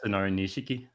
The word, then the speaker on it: Nishiki: how do you say his name yeah nishiki nishiki okay um i i see parallels between